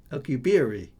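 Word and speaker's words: Alcubierre: can't say it now okay I'll keep Theory alcubieri he's Mexican is he Oh I thought I've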